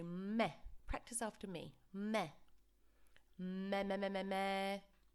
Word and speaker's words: me: what students always say they say me because of course we have the word me in english but we want to pronounce it as if there was an h at the end so meh practice after me me